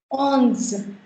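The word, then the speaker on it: onze: Now, coming on to the 11 series, therein you have ons. Ons. You've got ON, which is a nasal sound, which we pronounce as on. So this becomes ons.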